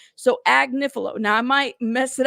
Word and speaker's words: Agnifilo: I'm gonna say it right all right so AG niif now I might mess it up again just